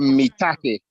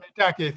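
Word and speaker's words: maitake: I keep hearing how you pronounce certain mushrooms, but the mushroom is called shiitake, and the other one is called mitake. Thank you. All right. Thank All right. Shiitake and mitake.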